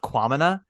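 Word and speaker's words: Kwamina: The only reason why I know it's pronounced Quamina is because of title of show.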